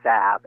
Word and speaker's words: salve: On page 70, it says clearly that it's salve, S-A-V, and that it's crayon in 2 syllables, not one, or triphthong, crayon.